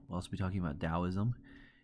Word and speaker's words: Taoism: We'll also be talking about Taoism. Although it starts with a T, it's pronounced with a D sound, Taoism.